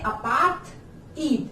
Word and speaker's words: अपार्थाइड: Learn करने के लिए अपार्थ, द और ईद, या ऐसे भी कह सकते हैं अपार्थ ईद।